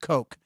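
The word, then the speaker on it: Koch: name was Kevin and his last name was K C pronounced Coke Kevin KO perect was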